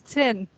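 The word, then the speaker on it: zehn: Iya, Chen. Ya, E-nya agak I ya, Chen. Jadi kayak T sama S. Iya. Kan Chen itu ditulisnya Z-E-H-N. Jadi Z itu dibacanya mirip seperti C.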